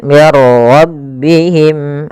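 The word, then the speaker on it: مِنْ رَبِّهِمْ: Cara membacanya, masukkan nun ya kepada huruf ra sehingga suara nunnya hilang, langsung terbaca dengan jelas suara ra-nya.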